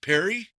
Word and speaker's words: Perri: Is it Perry? Yep. Just Okay. I didn't know if it had some fancy French uh pronunciation.